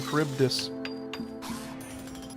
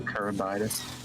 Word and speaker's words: Charybdis: know, I can't believe the actual fucking way to pronounce it is goddamn Charybdis. In this house, it's still Charybdis. That's how you fucking pronounced it. I said Chartibus.